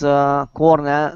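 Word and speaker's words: Kornel: We have, oh my goodness, I can't pronounce your name. Hi, Eric. My name is Cornell, not Hoyanka.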